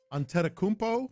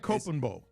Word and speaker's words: Antetokounmpo: He says Giannis Antetokounmpo.